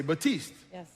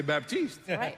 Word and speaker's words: Baptiste: person would read it if I was speaking French then I would say batiste does the P is gonna be silent no matter what but in English I don't know another word has a silent P right so if I'm speaking English I got to say Baptiste nobody's wrong everybody's right